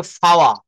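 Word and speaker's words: power: এটাকে বলতে হবে ফাওয়া।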